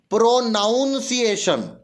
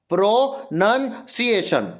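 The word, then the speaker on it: pronunciation: Pro noun लिखा उसने, प्रोनाउन नहीं होता, प्रोनन होता, प्रोनंसिएशन। ये नाउन जो है ना NOUN, उसकी जगह NUN आता, प्रोनंसिएशन बोलते ना, प्रोनंसिएशन सही नहीं है कि प्रोनाउंसिएशन बोलते, नाउन तो लगाते ही नहीं, तो ये वाली स्पेलिंग क्या हो गई, गलत, बाकी सब सही। प्रोनाउंसिएशन नहीं होगा, प्रोनंसिएशन, प्रोनंसिएशन।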